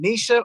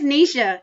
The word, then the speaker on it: Nisha: I want to make sure I pronounce is it Nisha or Nisha? It's Nisha. Yeah. You had I it was right. right the first time.